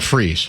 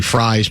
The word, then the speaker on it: Fries: fries will fries and it is pronounced fries not freeze that's what I heard